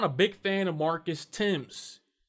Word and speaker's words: Marcus Thames: a big fan of marcus tim's or however you want to pronounce his name marcus thames that's how i pronounce it it's not his